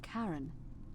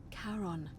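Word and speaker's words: Charon: it's just as you described it only your pronunciation is a little off and Karen it was c h a r o n as in Caron oh the right coin helps The Souls of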